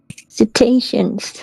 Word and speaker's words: cetaceans: refuge for uh, fuck, I forget how to pronounce that word. My God. Cetaceans. Cetaceans, that's it, B.